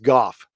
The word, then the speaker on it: Gough: at the end when Guy Pearce says yes what if after the brilliant and true speech by Jeremy Irons yep first doctor thank you fragmenting doors and corners everybody it's pronounced golf Thank You Stephanie little